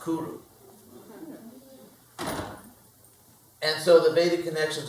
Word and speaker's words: Cyrus: Sanskrit another interesting fact in his own language his name is not pronounced Cyrus it's actually pronounced Kuru and so the Bic